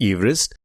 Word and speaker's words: Everest: It is a George Everest, and yes, his name was pronounced Everest. And of course, the modern pronunciation is Everest. So I won't say it's incorrect. It just has evolved over time.